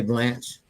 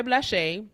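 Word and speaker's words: Blaché: Blas she is BL you have to say it with the oent gra BL say blanch because that's what it's how it's spelled that's how just how it looks You are not alone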